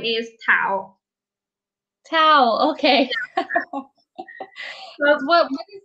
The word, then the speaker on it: Tao: Okay, so your name is Tao, like Yes. T-A-O. Yep. TAO. Okay, but pronounced Tao.